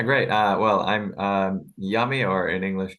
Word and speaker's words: Jami: Uh, well, I'm um Yummy or in English, Jamie, depends on how you want to pronounce it.